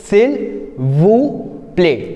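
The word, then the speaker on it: s'il vous plaît: सिल वू प्ले again if you will C एस इज a consonant so वी आर नॉट ट्राइम to pronounce S वी are keeping it साइलेंट सो वी are saying सेल व प्ले सिल वू प्ले इन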